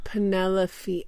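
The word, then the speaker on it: Penellaphe: I wonder if they pronounce it Penelopey. Wow. I've always assumed Penelope, but maybe it's such a light F that I don't.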